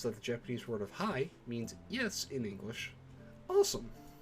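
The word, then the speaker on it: はい: e sounds like e or hai is actually pronounced hai that says japanese is a language spoken at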